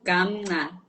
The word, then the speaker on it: Gamnca: It's called Gamnca. Oh, Gamnca. Yes. Okay, Gamnca. Yes. Okay, Gamnca. Gamnca. Not Gam. Gamnca. Uh-uh. Okay, Gamnca. like softly so.